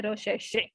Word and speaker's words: recherche: French word है, इसको ऐसे pronounce करते हैं recherche.